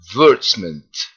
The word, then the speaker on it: advertisement: So I'm going to pronounce it in the British way first. Advertisement. Advertisement. Just listen, Mr. Ahmed. Advertisement. That's the British pronunciation. And the American pronunciation is advertisement, as I pronounced earlier.